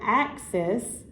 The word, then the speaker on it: axis: And then in that word axis, our first syllable is what we say a little more emphasis on, which we say a little stronger. Axis. So ax is the stressed one.